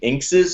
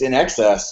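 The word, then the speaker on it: INXS: In Excess, which uh I remember kids at my school mispronouncing Inces. I'm like, have you heard this new band ines? And I'm like, I think it's In Excess.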